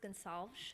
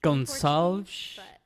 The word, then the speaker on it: Gonsalves: Believe me, I thought it was Hispanic. It's not. It's Portuguese. It's actually pronounced Gonsalves. Gonsalves?